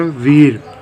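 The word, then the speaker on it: we're: इसको शॉर्ट में हम क्या बोलते हैं? वीर।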